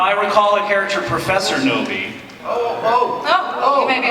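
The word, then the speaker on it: Knowby: Ruby Noby, Noby. with a silent K.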